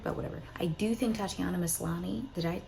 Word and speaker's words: Tatiana Maslany: I do think Tatiana Maslany, did I say her name right?